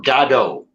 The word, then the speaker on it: Godot: that play and uh Samuel Beckett pronounced it waiting for gado guess what I read